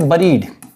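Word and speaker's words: buried: फिर क्या है, इसको पढ़ेंगे, इसको उच्चारण ऐसे करेंगे, बरीड, ठीक है, इसको ऐसे पढ़ेंगे।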